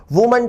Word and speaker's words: WOMAN: ठीक इसी तरह से वुमन lawyer becomes विमेन lawyers, मैन lawyer becomes मेन lawyers, वुमन teacher becomes विमेन teachers. विद्यार्थी उच्चारण पर ध्यान दें, WOMAN का उच्चारण है वुमन और WOMEN का उच्चारण है विमेन।